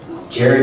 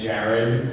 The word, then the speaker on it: Jared: Jared and Jensen, not Jared and Jensen. So every time I say their name, they go Jared. I'm like, I don't sound like that, but I'm pronouncing it's an A, it's not an E.